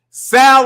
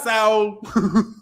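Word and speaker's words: Saúl: Sal Alvarez. Not Saul. Not Saul. No. Sal Alvarez.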